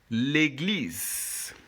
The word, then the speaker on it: l'église: So, this E with the accent, by now you should know it's pronounced A. And this one here is what we pronounce U. But since it's in the last since it's the last letter of the word, we are clearly going to leave that last E silent.